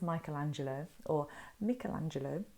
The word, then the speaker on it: Michelangelo: So this is Michelangelo, as apparently you should say his name.